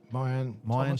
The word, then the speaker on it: Mayan: Is it Murren or Mayan? Yeah. Mayan Thomas.